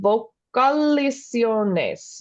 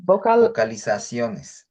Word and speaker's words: vocalizaciones: Usar vocalizaciones. Vocalizaciones. There's an extra syllable in there that I'm not saying.